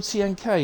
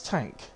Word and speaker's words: TNK: I've been calling him TNK. Is that who it is? Tank. Well, now I know. I do say to people, let me know if I'm saying your name wrong. So, I'll call him Tank then.